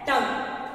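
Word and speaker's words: tongue: टंग, क्या प्रोनाउंस कर रहे हैं इसे हम?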